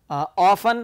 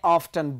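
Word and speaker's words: often: अच्छा, अब आप ये देखें, ये वर्ड जो है बाज़ औक़ात प्रोनाउंस करते हैं ऑफन, बाज़ औक़ात प्रोनाउंस करते हैं ऑफ्टन। Both are correct. Remember this thing, both these two pronunciations are correct.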